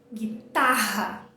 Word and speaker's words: guitar: Pensa comigo, no português a gente fala guitarra. Qual que é a sílaba tônica? A do final, o tá. No inglês também. Olha onde está o tracinho. Tá aqui. Então a sílaba tônica é essa, é guitar.